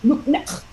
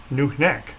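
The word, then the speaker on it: nuqneH: Klingon speakers and say "Nuknek," right? I mean, I have to. Is that I pronounce it right at all, or is it? Yeah. It's a little more forceful on the neck.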